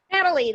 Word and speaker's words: Nathalie: Natalie, the H is silent. It's a French spelling.